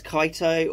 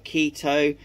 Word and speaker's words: Chaeto: You may pronounce it as Chaeto or Keto, but I pronounce it as Chaeto. You know the phrase, I call it Chaeto, you call it Keto, and that's how the whole thing goes, or something like that.